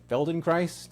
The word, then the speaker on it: Feldenkrais: So, um, tell me about this uh, Felden Christ. Feldon Christ. Did I am I pronouncing that correctly?